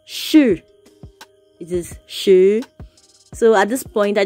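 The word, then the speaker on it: 十: 10 is pronounced as shu shu shu it's a what it is a rising tone not the falling tone it is a rising tune it is not sure it is shu so at this point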